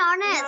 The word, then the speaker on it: honest: আগে man is an honest হবে and বসবে। ও ওকে, উচ্চারণ হয়েছে মিস যেমন হচ্ছে honest, h o n e s t, honest, honest এর বানান h, কিন্তু এটা ও এর মতো উচ্চারণ হয়েছে এইজন্য and বসবে।